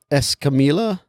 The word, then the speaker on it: Escamilla: It was directed by a guy named Troy Escamilla. You know 2 L's? You know Troy. And so, yeah. Because it could be pronounced like a Y.